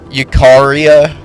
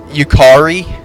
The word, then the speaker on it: Yukari: Yukari, is that how you pronounce it? Or Yukari, Yukaria? Is that like something? Yukari? Yeah. Yukari. Okay, that's what I said.